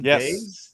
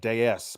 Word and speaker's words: Days: Days. D A Y. Brandon Days. Unless I'm wrong and then it's like Dez, but I'm pretty sure it's Brandon Days and what 16 years old plays for a high school.